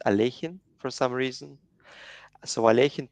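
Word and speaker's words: Alekhine: but you know like in russian it's better to pronounce it alejin for some reason so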